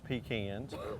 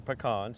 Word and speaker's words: pecan: the same family as pecans or pecans depending on how you say it it's in that same